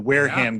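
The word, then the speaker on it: Wareham: Just let me uh you pronounce that town Wearham. Yeah, Wearham.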